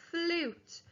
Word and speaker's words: flute: figure out the word the magic silent e is turning the short up into the long u sound f l u t